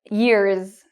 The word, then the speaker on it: years: Whereas year and day, when we add an S, the S is pronounced like a Z. Years, days.